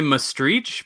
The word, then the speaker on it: Maastricht: great so I say must reach because that's kind of like the like using the CH at the end because that's kind of like the local pronunciation they have their own